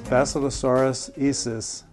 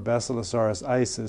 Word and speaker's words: Basilosaurus isis: This is Bacillosaurus isis, or Bacillosaurus isis, some people pronounce it.